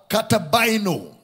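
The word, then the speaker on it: καταβαίνω: Descending is the Greek word katabaino. Katabaino is spelled as K-A-T-I-B-A-I-N-O.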